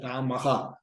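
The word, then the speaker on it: Rāmaḥ: So that is why Rama plus S will become Ramas and it will be pronounced as Ramaha.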